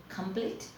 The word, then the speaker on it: complete: This is the phonic form of complete. Complete, we will have the stress here in the second syllable, and finish, we will have the stress in the first syllable.